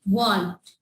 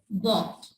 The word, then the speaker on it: walk: Here L is silent. We will pronounce like walked. It's not like walked. It's like walked.